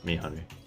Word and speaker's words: meyhane: How do I pronounce it? Let me see what it is. Video to pronounce. Yeah, Mihani. Mayhain. Mayhain? Okay. Mayhane. Nope. Mihani. Meyhane. Okay, so pronunciation for it is Mihani.